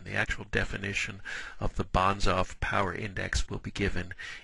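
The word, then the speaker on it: Banzhaf: It's going to be called the Bonsof Power Index. That may seem like kind of a funny word. Bonsaf is someone's name.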